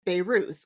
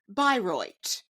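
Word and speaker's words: Bayreuth: Germany so the town is written beuth it is spelled b a y r e u I variously said beuth or Beirut as if it were in leemon in Lebanon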